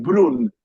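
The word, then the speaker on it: Brünn: en checo se dice Brno, es muy difícil pronunciar, es B larga R-N-O. En alemán es Brrr. más fácil porque es Brunn, es más fácil.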